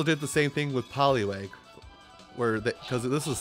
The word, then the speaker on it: Poliwag: the same thing with poliwag where the because this is the same article by the way to get the attention - poliwag you should say it like a fishing pole holy wag now let me hit